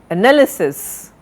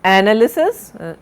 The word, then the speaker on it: analysis: Analysis, not analysis, analysis. You are, this is, please note, now the stress is on the second syllable.